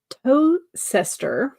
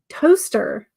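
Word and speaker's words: Towcester: Toaster. This is pronounced toaster. Toe. Okay, I get the toe. Toast. Okay, so TOWCE is pronounced toast. Well, I guess TOWCEST is just toast.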